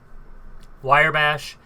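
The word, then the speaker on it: Wrye Bash: edition Nexus or on the standard Skyrim Nexus wire Bosch helps with the way that mods are set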